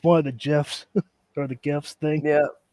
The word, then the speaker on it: GIF: I mean, it's GIF is literally gift without the T. It's pronounced GIF.